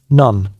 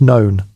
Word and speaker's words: None: None, pronounced known, though pronounced none, internally by tired novices.